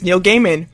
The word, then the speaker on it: Neil Gaiman: are you are you serious awesome guys like Neil Gaiman have a thing where it it has a button and it says he says my name is Neil Gaiman pronounced Neil Gaiman and it's him saying it that's